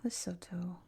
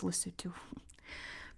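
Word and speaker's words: Lesotho: Bindi loto, which he mispronounces it's lutto. I always say it correctly now because I I can't not say loto, but he says loto. It's pronounced lutu.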